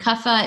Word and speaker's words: kapha: you are kava and kapha is felt see APHA like I know it's phonetically you might want to write us but it's with a pH so kava is made